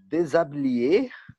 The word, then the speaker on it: déshabiller: de déshabiller, déshabiller, Déshabiller. déshabiller. Oui, Comment, déshabiller. Esse L não tem aquele som de uhum.